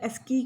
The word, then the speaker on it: ASCII: ASCII को हमने ASCII ASK और EE मतलब ASCII करके प्रोनाउंस करना है और इसकी फुल फॉर्म होती है American standard code for information exchange, ठीक है।